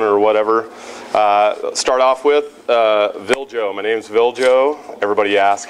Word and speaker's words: Viljo: Start off with Viljo. My name's Viljo. Everybody asks, how do you pronounce your name? Viljo. Everybody says Filjo. No, it's Viljo, V-I-L-J-O.